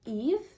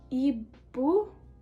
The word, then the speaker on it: Eve: So in English, it's pronounced Eve. In Korean, it's Ibu or Eve.